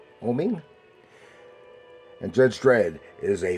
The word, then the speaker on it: Oeming: art by Mike Avon I think that's pronounced oming oming and Judge Dread is